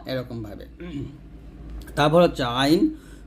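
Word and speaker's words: عين: এরকম ভাবে তারপর হচ্ছে আইন কন্ঠনালীর মধ্যখান থেকে উচ্চারণ করতে হবে আইনটা অবশ্যই চাপ দিতে হবে এখানে চাপ দিয়ে অথবা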